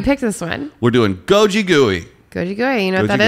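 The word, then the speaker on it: 고기구이: So Korean barbecue, which pronounced is gogigui, which also means meat roasting.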